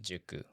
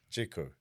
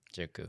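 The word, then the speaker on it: 塾: Juku. Jiku. To go to Jiku. Juku.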